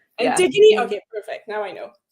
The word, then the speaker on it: Antigone: It's like it's those Greek names like Antigone. How do you pronounce that? No, the first way was right. Antigone. Yeah. Antigone.